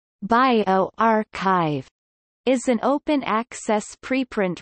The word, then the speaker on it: bioRxiv: bjorkiv pronounced bio archive is an open access preprint repository for the biological sciences co-founded by john inglis and richard sever in november 2013.